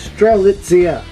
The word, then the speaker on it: Strelitzia: I will say it right one of these days. Strelitzia. Because lit is in the middle.